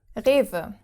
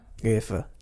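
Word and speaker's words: Rewe: And then the W pronounced like a V. Like a V. Yeah. Rever.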